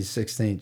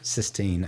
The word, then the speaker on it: Sistine: I'm going to correct one thing that you said. You weren't in the 16th chapel. How do you say that correctly? Sistine? Sistine.